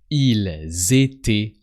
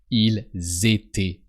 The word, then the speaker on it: ils étaient: Ils étaient pas. So don't forget to pronounce the S of il. That sounds like a Z. Ils étaient pas.